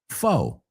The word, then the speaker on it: faux: And the second word, foe. Foe. Esa X es muda.